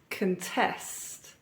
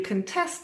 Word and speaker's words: contest: our next word as a verb it is contest contest if you contest something then you formally challenge um oppose or